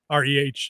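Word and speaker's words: Rhea: So, if u if uh Recy I think I think she pronounced it Ray, Rhae, I think it's Ray.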